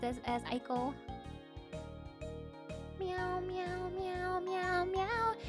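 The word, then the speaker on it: ICO: Eco makes sense because that's how you pronounce it in Japanese. Yeah, it makes sense. I just always heard it pronounced as Aiko.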